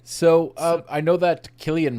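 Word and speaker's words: Cillian: uh I know that Killian Murphy because I believe that's the Irish pronunciation um has said that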